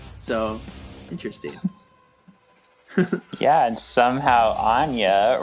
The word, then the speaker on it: Anya: Yeah, and somehow Anya rhymes with Nina for some reasons in this movie.